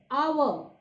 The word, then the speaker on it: hour: I am pronouncing, students, our, honest, it starts with H, but the sound of H is silent, and what you are